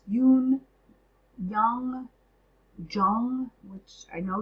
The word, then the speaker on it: Jung: Us by Carl Yun um I heard it pronounced Yun Yung Jung which I know Jung is incorrect but it's ju n g and